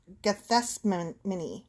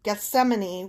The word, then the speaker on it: Gethsemane: in the Garden of Gethsemane. Yeah, pronunciation. Gethsemane. Gethsemane. No, I've heard this one before, and I think it's beautiful the way like the letters twist around. It's just hard to say.